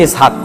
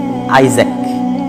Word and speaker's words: ইসহাক: বিজ্ঞানী নিউটনের নাম কিন্তু ইসহাক কিন্তু উচ্চারণ করা হয় ইংরেজিতে কি আইজ্যাক কিন্তু আসলে কি ইসহাক ইসহাকের ইংরেজি ভার্সন হচ্ছে আইজ্যাক তার বাবার নাম হচ্ছে